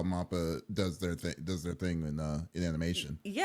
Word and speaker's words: MAPPA: Now I'm like freaking like self-conscious of like if I say this right or I would nap or It's mappa.